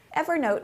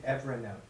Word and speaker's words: Evernote: Evernote was a Windows app... What? You're saying Evernote.